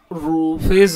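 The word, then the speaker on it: roughage: ठीक है, मतलब जो रूफेज होता है, इसका जो प्रोनाउंसिएशन होता है रफेज होता है, रफेज रफेज रफीज क्या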